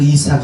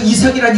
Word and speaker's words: 이삭: 이차크 발음을 좀 빨리 해보십시오. 이차크, 이차크, 이차크, 이차크, 이삭, 이삭 이렇게 되지 않습니까?